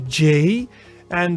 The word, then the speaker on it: ja: Then we go to the J, and the J in Dutch, for example, ja. Yi, the yi sound, ja, and ja means yes. So it is actually pronounced as in the English Y in yes.